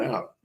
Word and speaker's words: Eau: The O Spa, that one? EPU. It's not, doesn't sound the way it looks how it's spelled. EAU, the O Spa.